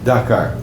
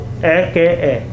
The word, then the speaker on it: Dhaka: Dhaka. Dhaka. Oh, Dhaka. Yeah. And Capital city our. what? Our country capital city Dhaka. Dakar. Okay. Dhaka. Dhaka.